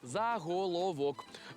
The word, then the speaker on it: заголовок: Та я вас врятую насправді у цьому слові подвійний наголос тому і заголовок і заголовок правильні версії наголошуйте Як вам більше